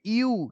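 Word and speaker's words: ewe: ये जो यू है बोला ना, इसका प्रोनाउंसिएशन ये यू, जो लड़कियां जो बोलती है ना किसी भी चीज को, कोई भी घटिया स्मेल, स्मेली है, बड़ा ही उससे स्मेल आ रहा है, पंजेंट, तो यू, वो यू के स्पेलिंग ये होती है, ये यू है, तो क्या बोलेंगे? यू, बस यू।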